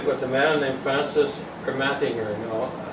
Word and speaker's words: Ermatinger: Now, I've heard that there's different pronunciations of his name, but people in the Hudson's Bay Archives, where we used to go to get old documents in, they're now in Winnipeg, they called it Ermatinger, but he came here